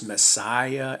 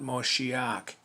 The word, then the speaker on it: Messiah: greek so that you would know that it's messiah and not moshiach get it right get it right if you're